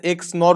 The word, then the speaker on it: XNOR: এটাকে বলা হয় এক্সঅর আপনার মতে এক্স অর, হ্যাঁ, কিন্তু আমাদের উচ্চারণ হবে এক্স অর, আর হচ্ছে এক্স নর উচ্চারণ হবে এখানে।